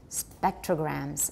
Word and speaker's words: spectrograms: about grams d bidet and grams the s is mostly just z it's at numbers 18 to 19. come without some voicing spectrograms spectrograms okay let's go